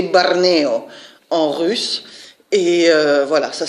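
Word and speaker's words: Barneo: j'ai oublié de vous dire qu'elle s'appelle bornéo prononcé barney en russe et voilà ça c'est typique de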